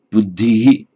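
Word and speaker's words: बुद्धः: Nominative form would tend to be pronounced Buddhi, Buddhi, with this echo of an E at the end of it.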